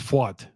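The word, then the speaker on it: Pfaadt: guy who's pitching um fought I've heard it pronounced like 15 different ways but it's pronounced fought um he's a guy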